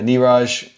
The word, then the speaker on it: Niraj: oh sounds good uh niraj thanks for saying hi thanks for joining uh yes that's how i pronounce my name okay have like a